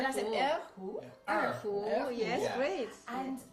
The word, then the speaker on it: Erhu: Yes, I don't know whether I can pronounce it. Erhu. That's an Erhu.